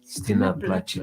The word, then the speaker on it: Стена плача: Stina Placha.